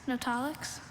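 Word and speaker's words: notaulix: Nollix. Nollix is spelled N O T A U L I X.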